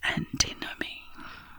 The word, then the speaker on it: antinomy: This word is pronounced antinomy, with a stress on the second syllable.